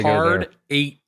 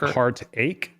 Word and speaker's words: Hard Eight: okay Joel We got Hard Eight like heart eight or Hard Eight hard eight eight like the number eight the number eight you